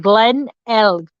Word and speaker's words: Glenelg: The reason I say Glenelg like that, because a lot of creators that have done this case have actually mispronounced it. So I'm saying Glenelg. Glenelg.